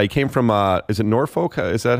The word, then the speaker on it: Norfolk: He came from, is it Norfolk?